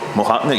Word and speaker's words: Mojave: mojave goodies i'm sorry what's it called mojave you gotta say it like that what's up guys